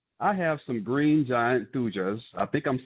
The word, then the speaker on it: thuja: Pat, I have some green giant thujas. I think I'm saying that right. Is that how you pronounce that? Thuga.